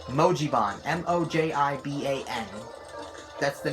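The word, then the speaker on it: Mojiban: the Emoji Bond I originally said it was mobazen but it is actually pronounced mojibon m-o-j-i-b-a-n that's the name of it in the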